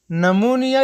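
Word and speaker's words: pneumonia: د پی توری کله چې د جملو په سر کې د اس او ان تورو څخه مخکې راشي نه تلفظ کېږي، لکه نمونیا یعنی سینه بغل.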